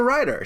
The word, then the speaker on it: Ryder: She's Winona Ryder. It rhymes with Snyder, and she's in the Ryder movie.